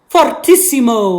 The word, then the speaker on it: fortissimo: Fortissimo. I roll my R. Fortissimo. Can you say fortissimo? That's kind of fun to say. So fortissimo or fortissimo, if you roll your R's real good, it's going to be very loud.